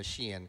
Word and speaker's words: Shein: you the other day, I had always thought it was Shine. So, I'm glad I'm glad I finally learned it was Shein.